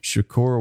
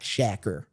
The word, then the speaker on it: Shakur: like Dennis it's Tupac Shakur and he's like no it looks like Tupac shacker and I was like no Dennis it's Tupac Shakur he's like y trying to